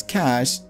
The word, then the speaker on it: cache: Even though it's pronounced as cache, it's definitely not money.